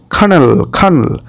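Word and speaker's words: colonel: তবে exactly কর্নেল, এরকম sound আসবে।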